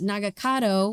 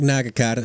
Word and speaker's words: Nagakado: which is Hiromatsu, then his son, who is Nagakado, which I was saying his name wrong the entire time last during our Well, last I episode.